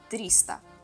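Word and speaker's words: триста: 200 is the best the best 300 is Trista it's pretty easy because it's like if it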